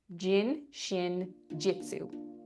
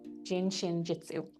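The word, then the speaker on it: Jin Shin Jyutsu: I'm probably going to butcher the name, but it's uh it looks phonetically like it's pronounced jin shin jitsu. gin shin jitsu.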